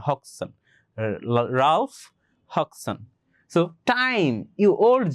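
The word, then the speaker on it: Hodgson: এখানে যে ডিটা আছে না এই ডিটা কিন্তু উচ্চারণ হবে না। এটার রাইট প্রনান্সিয়েশন হবে হাকসন। ঠিক আছে? হাকসন। এইচ ওডি আছে না? ডিটা তোমরা উচ্চারণ করবা না হক্কসন রাউলফ হক্কসন টাইম ইউ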